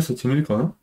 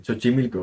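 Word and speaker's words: Xochimilco: cascabel de chochimilco se dice creo que se pronuncia sochimilco No lo sé sochimilco creo mir can muerteadas que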